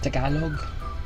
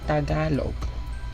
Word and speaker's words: Tagalog: It's Tagalog, not Tagalog. Or if you want to make it more American, you say Tagalog. It's a little closer to the original word or original pronunciation, so it's better to say Tagalog or Tagalog. Actually, Tagalog is more appropriate, not Tagalog.